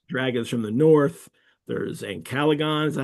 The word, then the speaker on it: Ancalagon: dragons from the north, there's Ancalagon, is that how you say his name? Ancalagon black That's right.